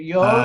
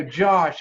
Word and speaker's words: Jos: Is it Jos? It's pronounced with white. It's Dutch. It's Jos. Jos. Like yes, Jos. I go Josh.